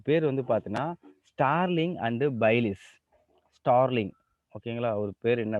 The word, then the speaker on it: Bayliss: இதை ப்ரொனவுன்ஸ் எப்படி பண்ணுவாங்க? பேலிஸ்ன்னு பண்ணுவாங்க. BAYLISS.